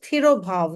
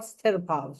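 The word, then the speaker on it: तिरोभाव: She's Virisha ji saying it is Thirobhav, not Sthirobhav. So if you could just explain that.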